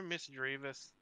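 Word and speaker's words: Mismagius: Because it's supposed to sound like mischievous. That because that's the same like syllable structure and like how it flows properly. Mischievous, Mistrevus. But yeah, I totally get where people come from Mistrevus, so.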